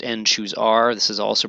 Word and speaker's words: n choose r: the arth column uh pronounced n choose R this is also pronounced n choose R uh I know it